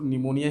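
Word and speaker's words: pneumonia: यहाँ पर P silent है, इसको निमोनिया ही कहेंगे।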